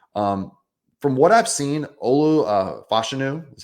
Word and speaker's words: Olu Fashanu: the litter here um from what I've seen Olu fashanu is how you pronounce it uh has fallen a little bit